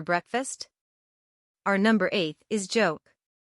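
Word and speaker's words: โจ๊ก: our number Eighth is joke this isn't a joke but they really pronounce it as joke joke is the Thai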